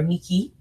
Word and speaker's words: Nike: is a temple of athena nike or miki more perfectly pronounced which means at the